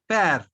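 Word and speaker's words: père: When there is grave accent over over E, we generally pronounce it as A. Okay. So how to pronounce this word? Pa. Pair. Because there is E at the end, so previous R is pronounced. Okay, so it is pair.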